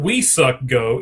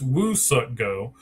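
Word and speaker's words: Woo-suk Go: It's not We Suck Go, it's Woo Suck Go. And they actually also they gave him to the Twins. The Twins now have Woo Suck Go.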